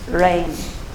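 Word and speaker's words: reign: The G is silent. Rain.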